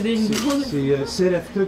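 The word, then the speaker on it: Sereftug: Un moment donné, je reçois un coup de téléphone et Peter Keller me dit Atila SFTug parce que c'est son nom, c'est CFTug, c'est S E R E F T U G.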